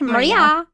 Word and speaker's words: Maria: You have to say it like Maria.